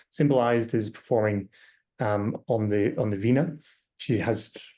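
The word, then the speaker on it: veena: And she usually is holding this vena, and the vena, written V-I-N-A in English, but often written differently, V-E-E-N-A. Priyank tells me it's pronounced the same.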